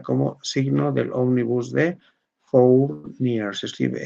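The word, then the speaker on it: Fournier: terciaria se considera como signo del óvnibus de for near. Se escribe f o u r n i e r.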